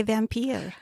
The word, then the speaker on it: Vampyre: You know, it's probably supposed to be pronounced the same way when you spell it with the Y instead of the I, but I like to say vampier.